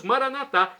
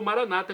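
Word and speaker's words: maranathá: aramaico dialeto de Jesus maranat como dizemos nós católicos ou Maranata como dizem nossos irmãos separados os evangélicos ou protestantes não importa a pronúncia o significado é o mesmo a parusia a segunda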